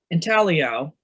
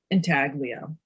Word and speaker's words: intaglio: He was from New York, and he said, it's not intaglio, it's not lasagna, the G is silent.